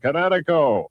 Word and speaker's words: Kinetico: I thought the instructor said Connecticut, not You should have remembered kinetic as in kinetic energy with an O on the end. Kinetico.